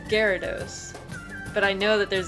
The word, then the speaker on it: Gyarados: wrong i was like the japanese which is where it came out first it was gyarados but growing up i always heard it as gyarados but i know that